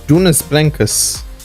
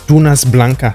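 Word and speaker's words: Dunas Blancas: number three which was Jonas Blancas or should I say it properly Tunas Blanca Sprint my I might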